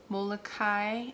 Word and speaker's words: Molokai: Molokai is how you say that.